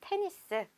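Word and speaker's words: tennis: 알 수가 있습니다 다음 테니스 땐 있으 자 우리 보통 탕 써 에서 자음으로 끝나는 경우 끝나는 자음은 발음하지 않는다 라고 알고 있는데여 테 니 스 라는 단어는 뒤에 s 발음을 해 주셔야 합니다 이렇게 약간 영어에서 온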